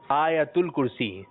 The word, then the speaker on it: آیت الکرسی: ٹھیک ہے, اور اس کا درست تلفظ ہے آیت الکرسی. درست تلفظ کیا ہے؟